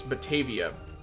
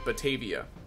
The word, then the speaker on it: Batavia: I'm going to call this place Batavia.